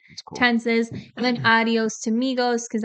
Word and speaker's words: Migos: and then adios to Migos because adios rhymes with Migos and and it's Spanish yeah like Amigos and then adios so